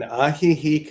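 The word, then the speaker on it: Ajijic: James founded Namaste Village in interfaith community uh spiritual community in uh how do you say in Aih he Mexico I thought it was AJ I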